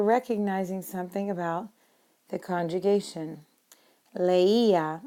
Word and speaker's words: leía: Leía is how we pronounce it.